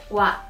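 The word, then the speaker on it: は: Seperti misalnya nih, hiragana yang ini dibacanya adalah ha, tapi kalau dalam partikel dibacanya menjadi wa.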